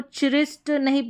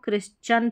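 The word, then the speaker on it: Christian: Next देखेंगे तो religion से संबंधित जो भी वर्ड्स हैं जैसे कि यहां पर देखें इसको चिरिस्ट नहीं पढ़ेंगे।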